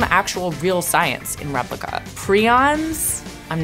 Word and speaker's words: Prions: Prions, I'm not gonna say what they are, it's important to the book, but just know I did not make that word up.